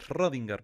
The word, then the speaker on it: Schrödinger: la edad swinger shorts rodinger schrödinger perdón así se pronuncia quiero un debate con